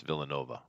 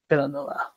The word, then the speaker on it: Villeneuve: It's Dennis Villanova, by the way. Villanova. Yeah. Almost. No, Almost. it's a weird pronunciation for the way it's written.